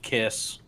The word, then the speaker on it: Siefkes: so eloquently mentioned uh Sam caiss according to the pronunciation guide from the Arizona Cardinals uh just finished his